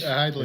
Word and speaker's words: Heidlage: That is how you say your last name, right? Is it Heidlage? Heidlage. It's Heidlage.